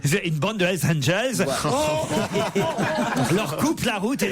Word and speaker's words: Hells Angels: C'est pas des Hey Angels. Hey Angels. Hells Angels. Une bande de Hells Angels leur coupe la route et les oblige à s'arrêter.